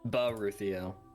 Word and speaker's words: Baruthiel: Baruthiel. Oh, okay. I was gonna be like, I couldn't quite tell if there was like a little another syllable in front of that or not.